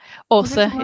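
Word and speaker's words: Aase: Apart from, that isn't true, because my mum used to call her Asa, and I think is it Orza, that name? A-A-S-E? Orza, yeah.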